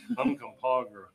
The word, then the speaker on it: Uncompahgre: Uncompahgre.